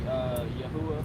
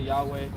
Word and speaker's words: Yahuwah: Whenever I say tetragrammaton, I would say Yahuwah. I would say Yahuwah. I've heard a different renders. Some people say Yahweh.